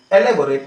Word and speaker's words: elaborate: देखिए यहां पर जो प्रोनाउंसिएशन है वो ई से ही स्टार्ट हो रहा है, देखिए सब, है ना। ELABORATE, एलेबोरेट मींस क्या होता है, विस्तृत, ठीक है ना।